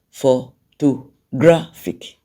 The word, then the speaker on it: photographic: they has four syllables four to graphic for to graphic of course the stress primary stress is on gra because that's the loudest when